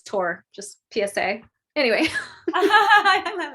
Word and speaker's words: Thor: Yeah, I'm Uh, kind of a purist in my I pronunciations. love it. I love Like it. it's not Thor, it's Tor.